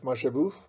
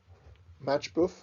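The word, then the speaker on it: Machebeuf: john baptist lamey and joseph mashabouf or joseph matchboof i think is how they say it nowadays were boyhood friends back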